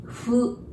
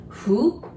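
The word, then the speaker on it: ふ: That's ha, hi, fu, he, ho. Remember this fu? We don't have F pronunciation. So we pronounce it like blowing the candle. Fu, fu, okay? Fu.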